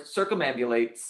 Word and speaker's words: circumambulate: 1 2 3 1 7 - a celebrant circumambulate I said it right but I didn't think